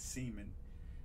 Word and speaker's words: Semien: For some reason, that the one I just showed, Marcus Semien, he used to tell me to pronounce it Marcus Semien.